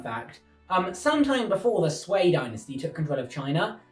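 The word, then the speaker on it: Sui: Han dynasty collapsed, the Sway dynasty took control of all of China. I spelled like this, but apparently you pronounce it sway.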